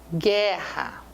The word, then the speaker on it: guerra: único som então cuidado quando eu falo querida guerra guerra o u não é pronunciado né quando eu falo